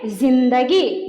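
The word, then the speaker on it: ज़िंदगी: ध्वनि विशेष के लिए मतलब मान लीजिए यह नुक्ता नहीं रहता तो पढ़ते जिंदगी। अगर नुक्ता लग गया इसमें तो पढ़ेंगे जिंदगी। मतलब उच्चारण में अंतर आ जाता है।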